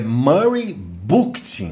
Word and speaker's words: Murray Bookchin: Eu quero começar aqui enaltecendo um texto de Murray Bookchin. Estou editando o vídeo aqui, eu acho que essa pronúncia ficou estranha, porque é Murray Bookchin, né? Meio de book, uma coisa assim, desculpe.